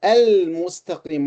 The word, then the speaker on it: المستقيم: While al-mustaqim, what do you think of al-mustaqim? This is a moon letter, mim. So the lam should be pronounced.